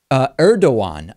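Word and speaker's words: Erdoğan: Turkish President Erdogan, I'm told by Lewis, is the proper way that his last name is pronounced.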